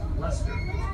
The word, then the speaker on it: Lancaster: settler in the area named Lancaster, which was often pronounced Lester.